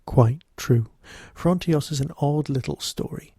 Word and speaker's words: Frontios: to be talking about fronos except it's not called fronos is it it's called frontios and I've been mispronouncing